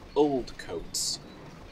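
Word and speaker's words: Oldcotes: I threw up in it's a place called Old coats old coats yes as in this coat is very old old coats but it's spelled differently oh okay old coats no coats is spelled c o t e uh not like boats oh you got the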